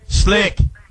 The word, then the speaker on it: Slique: artist what's his name slick slick slick with the Q the Q silent s l i q u e yeah slick slick like oil slick slick yeah that's it